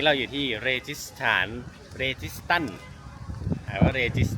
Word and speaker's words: Registan: Registan is pronounced "Registan."